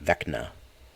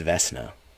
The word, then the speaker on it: Vecna: a hard see um i've heard it pronounced in like some audio books or maybe some movies or something like that vechna uh i don't think it's vesna um all right let's keep